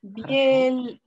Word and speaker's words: Бельгия: Бельгия. Бельгия. Бельгия. Бельгия. Молодец. Бельгия. Бельгия. Ok. Бельгия. Ah, oui, d'accord, Бельгия. Oui. À cause du son mou. On prononce pas trop, on prononce pas trop le L, quoi.